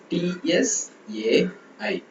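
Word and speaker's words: 菜: ஸோ ஸோ இப்போ CAI அப்படின்னா நாம அதை எப்படி ப்ரொனவுன்ஸ் பண்ணுவோம் பார்த்தீங்கன்னா TSAI, chai, chai, chai, chai, chai, chai, chai, chai, chai, chai.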